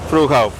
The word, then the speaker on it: Fruehauf: Fruehauf.